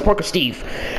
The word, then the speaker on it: Parka Steve: Yeah, I'm pronounced as Parker Steve because that's just what my name is and stuff.